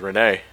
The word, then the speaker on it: Rene: I thought it was Reen. I pronounce it as Rene. It could be either or.